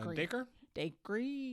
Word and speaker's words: Dacre: Dacre. Like acre, but with a D maybe?